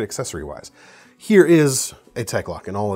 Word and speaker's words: Tek-Lok: One thing I'd love for you to do is a video on these things you call tech locks.